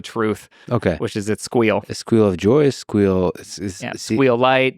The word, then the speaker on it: SQL: flavors of squel uh by the way pronounce SQL versus SQL is squeal squeal you sque sque I think is the correct way squeal I did sequel because I didn't you know I didn't know the audience I don't I know